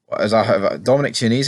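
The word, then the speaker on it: Dominic Chianese: Dominic Chesney, Dominic Chinese, is how you pronounce his name.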